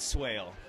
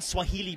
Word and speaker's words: Swaile: would be whale Swale sorry happens all the time for some reason the E on my on the end of my name people want to pronounce it for some reason make my name sound fancier I've gotten Swahili before too go figure okay so